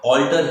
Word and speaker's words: alter: अब ऑल्टर AR और ER दोनों का मतलब सेम है, दोनों का साउंड सेम है, राइट। ऑल्टर ही बोलेंगे।